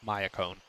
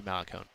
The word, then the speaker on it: Malacone: Because that's not a Spanish last name. That's not Mayacone. That would be Malacone, I believe.